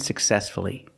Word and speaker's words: successfully: we pronounce the U success again distress is on the second syllable so we pronounce the U successfully again respectfully you have